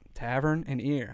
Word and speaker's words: Tavernier: ball in your court how do you pronounce her last name Jennifer Tavernier yep tavern and ear however neared if she